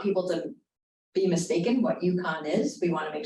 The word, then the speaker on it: UConn: Here at UConn, at the University of Connecticut, we call it UConn. And it's spelled UCONN. But if we were to